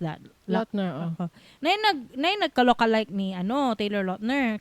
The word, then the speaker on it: Lautner: How do you pronounce that? Lautner.